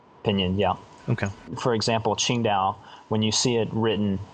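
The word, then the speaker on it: Qingdao: to a restaurant and you see an advertisement for chingow it will always say TS i n g t AO or Dao I can't I think d e AO I think Dao okay today it's spelled q i n Dao and for like dosm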